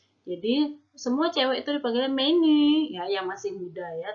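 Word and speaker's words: 美女: Ini bacanya adalah mei-nü, mei-nü. Mei itu artinya cantik, nü itu artinya perempuan ya.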